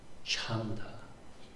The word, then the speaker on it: chanda: here is uh cha so dama chanda. So it's still that kind of very J sounding J, but it's aspirated. So it sounds cha cha cha.